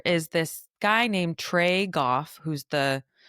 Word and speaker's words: Goff: There is this guy named Trey Goff who's the I really hope it's Goff and not Joff. Um, it's spelled his surname is spelled G O FF.